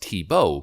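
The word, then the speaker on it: Thibeault: on august 26 2022 mr tubeau pronounced tebow voluntarily retired from the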